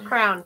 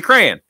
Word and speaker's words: crayon: you say crayon crayon how do you say it crayon okay i mean crown i get it crown no it's not a crown no it's a it's a crayon it's like korean yeah i don't know